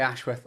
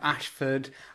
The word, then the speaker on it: Ashworth: I say Ashworth. A lot of people Oh, especially at school, it was like Ashford, Ash- I I don't know.